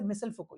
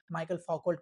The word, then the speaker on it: Michel Foucault: जैसे मिसल फको ये नाम है। है ना? आप ब्रिटिश प्रोनाउंसिएशन कर सकते हो। आप फ्रेंच प्रोनाउंसिएशन कर सकते हो। लेकिन नाम को आप कुछ और ही नहीं पढ़ सकते हो। है ना? जैसे माइकल फोकल्ड पढ़ती है वो तो और वो